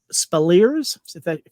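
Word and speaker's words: Speleers: crusher's son jack Ed uh spellers that's how you say his name reveals that he is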